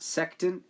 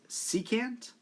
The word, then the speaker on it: secant: wrong in this image it's not sectin it's secant which is a line